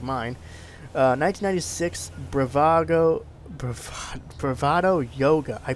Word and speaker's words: Youga: 1996 Bravado Yoga. I pronounced it right.